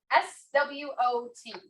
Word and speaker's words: SWOT: SWOT. Not like the SWAT that will come in the black suits and the vest and the thing, Dinos.